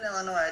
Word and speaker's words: Illinois: When I lived in Illinois, I did not pronounce it correctly. You call it? It's not Illinois. It is. No, it's Illinois. No S.